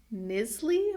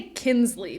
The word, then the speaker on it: Knisley: I love just about anything written by Lucy Knisley or Knisley, Knisley. I want to say Kinsley, but I know that's not right. The N is in the wrong place.